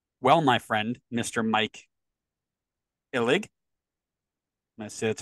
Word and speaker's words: Illig: Mike Illig, I see that's how you pronounce that, might want to reevaluate, my friend,